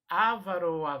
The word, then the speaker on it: avaro: estará em correto ok ela é uma palavra paroxítona então fica o avaro as palavras proparoxítonas que